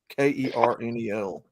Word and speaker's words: colonel: if you're gonna call somebody a colonel, spell it like the damn word says. Kernel.